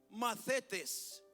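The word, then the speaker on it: μαθητής: Discípulo en el idioma griego, hermanos, se pronuncia mathetes, con T-I-H, mathetes, ¿verdad?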